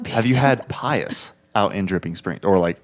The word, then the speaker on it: Pius: Have you had Pius out in Dripping Springs? Or out southwest of city? How do you spell that? Pie. Oh. Us. Oh, okay. No. O-U-S. Oh. Pie-O-U-S. Yeah. Like being pious.